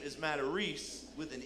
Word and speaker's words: Matarese: The guy on the other end goes, Matarese? Oh, no, Matarese. I'm like, what? You ever been told you were saying your own name wrong? No? He's like, no, that ain't a Matarese, it's a Matarese. Freaking launches in the air, Matarese.